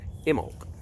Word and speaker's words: Imbolc: been up but today's video is all about Himmel the bee is silent IM bol see the bee is silent